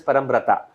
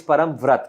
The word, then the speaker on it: Parambrata: should be but then whoever tries to pronounce my name and where and if that person happens to be happens to be not from Bengal then uh they usually pronounce my name as param prata but it's actually wrong it's param vrat if you really have to sort of hindify my name then it's got to be param vrat and uh if you